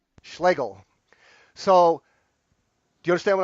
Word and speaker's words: Schlegel: How do you pronounce your last name? Let me hear it again. Schlegel. Schlegel.